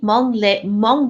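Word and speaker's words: Hmong: one is is among I'm thinking pronouncing the correctly Mong Mong women today which is H M o ng and I'm going to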